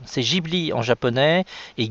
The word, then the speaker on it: Ghibli: Beaucoup de fans du studio Ghibli, ou plutôt Ghibli, c'est Ghibli en japonais et Ghibli pour les Français qui le prononcent, considèrent que le film Lupin, le château